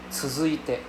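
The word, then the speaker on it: 続いて: So but anyway, the pronunciation is tsuzuite. So it's like same lah. Think of it as a DZU sound lah. DZU. Yeah. So instead of a TZU, it's a DZU.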